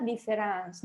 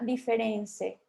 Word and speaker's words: différence: O sea, différence en francés significa diferencia y se escribe así, différence, pero se pronuncia différence, no se pronuncia diference, ¿no?